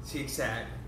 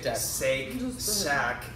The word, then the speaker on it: Shake Shack: at bit like that it's Shake Shack and I like pronounce it like cheek sad but CJ yeah Shake Shack not seek sanic learn pronounce trace everything